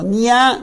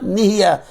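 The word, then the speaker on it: נהיה: Say it correctly. Lo niya nihiya.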